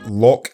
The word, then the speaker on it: Loch: ] in my life so yeah it's just like lock Henry but lock means Lake I'm a rapper hip-hop